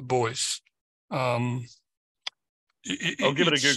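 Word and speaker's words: Beuys: name I can't remember the second part is b a with all lights on top of it us which is pronounced the boys um I'll give it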